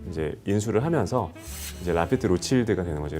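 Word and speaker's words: Rothschild: 로스차일드라는 가문이 이제 그 1868년에 그 라피트를 이제 인수를 하면서 이제 라피트 로칠드가 되는 거죠. 로칠드는 이제 로스차일드의 이제 프렌치식의 발음이기 때문에 이제 라피트 로칠드라고 이제 주로 발음을 하는데요.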